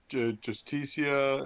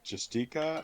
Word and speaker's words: Justicia: kind of pull out, when I was pronouncing it Justica, it's because the holy shield I have of hers the spelling of it there doesn't have the extra I, so that's why it's mispronouncing it.